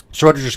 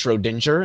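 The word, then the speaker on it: Schrödinger: Schrodinger's cat. Oh, yeah, because you're fucking really, really white, Steve, and so you say it's Schrodinger instead of Schrodinger, which is the way it should be pronounced.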